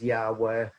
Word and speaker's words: Yahweh: This is where they never tried to pronounce the tetragrammaton, the divine name, usually pronounced as Yahweh, though there are problems with that, but that's as close as we can get to it.